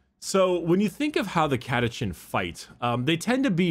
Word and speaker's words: Catachan: already, like, excuse me, the pronunciation of Catachan is not a Chan, like you're talking about anime, it's Catachan.